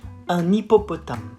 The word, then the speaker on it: un hippopotame: It goes like un hippopotame. You do the liaison.